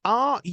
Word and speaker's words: runes: it said are they um now is this it's spelled r-u-n-e-s runes runes what are rooms well you know